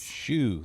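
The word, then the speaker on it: Hsu: Colonel Shu has me handling the policing duties for the base. Shoo. That's how you I've told pronounce him it.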